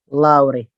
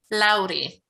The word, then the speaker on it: Lauri: Or I don't, is there a way that I can pronounce that better? Lauri. Lauri.